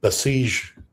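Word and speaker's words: Basij: CG units and the Besiege units. Did I pronounce that properly? Yes. Besiege. Yes.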